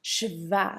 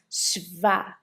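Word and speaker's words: śva: The s with a little thing on top sounds like c h like in the English word ship. Ship. So we pronounce shva.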